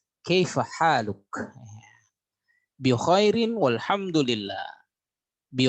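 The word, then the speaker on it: كيف حالك: Ada juga dengan dialek kaif halak. Kaif halak ya, kaif halak. Nah, itu yang pasarannya seperti itu. Kaif halak ya, seperti itu ya. Tapi kalau umpamanya yang resminya kaif haluk?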